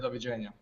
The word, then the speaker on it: doviđenja: On Croatian, when we say goodbye, we say doviđenja. Can you pronounce that?